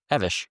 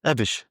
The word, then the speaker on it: Avish: Is it, what is it, Avish or Avi or? Avish. Avish. Yeah.